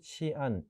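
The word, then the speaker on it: 西安: 바로 이종주 지역 어 오늘날의 시 1 어서 1 이라고도 부르고 오늘날 중국 발음으로 치안이 라고 하는 곳입니다 이곳이 원래 어 2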